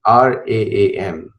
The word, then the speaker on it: Ram: Now, for Americans who don't know how to pronounce, it is Ram, like not Ram, it's Ram, and Raam.